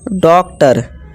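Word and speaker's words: doctor: ठीक है दोस्तों, जैसे कि देखिए ओ आर आ गया, तो इसे टेलर, आ की आवाज़ निकाल दी हमने। इसी तरह लेसन, ठीक है, ओ एन है, ओ एन। डॉक्टर, इसे ओ डॉक ट और आ की आवाज़ ओ आर निकालनी है, आर, डॉक्टर।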